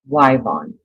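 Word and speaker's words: Yvonne: That's what his um Isn't it weird how some places in the country they pronounce that name either Wybon which in Oklahoma if your name is Ivonne spelled with a Y um it's pronounced Wybon everywhere I've lived one of my grandchildren's middle names is Ivonne and it's spelled with a Y just like that we say Ivonne she's named after her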